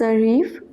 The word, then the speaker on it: arrivent: Ils arrivent, remember e n t at the end of a verb is always silent.